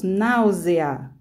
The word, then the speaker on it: náusea: necessariamente então por exemplo a palavra náusea ela aparece aparentemente teria olhando o gráfico escrita teria duas sílabas é mas quando nós falamos náusea ela tem três então são as chamadas